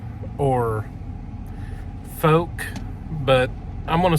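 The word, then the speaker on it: Fouke: to talk about the falc or folk but I'm gonna say falc because it's spelled f-o-u-k-e but I think locals in Arkansas pronounce it as Folk but the falc county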